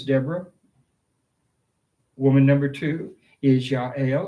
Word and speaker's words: Jael: Woman number two is Jael, or JL, as you might want to pronounce it.